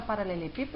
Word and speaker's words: paralelepípedo: exemplo, pensa na palavra paralelepípedo, ela tem muito mais de 3 sílabas, obviamente. Mas, pípedo são as 3 últimas. Se a gente for perceber, o pi é a sílaba mais forte. ela é proparoxítona.